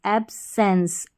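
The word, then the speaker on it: absence: अगला कोड है ई एन सी ई। इसको एंस पढ़ेंगे। जैसे कि यहां पर है ए बी एब और फिर है एस साथ में है तो सेंस हो गया और इ एन सी एंस एब्सेंस एब्सेंस एब्सेंस का मतलब इ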